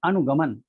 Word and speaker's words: अनुगमन: ल गा गा, जबकि अनुगमन का उच्चारण आग्रह है अनुगमन, अनु गा और गमन लगा, तो अनुगमन हो गया गालगा।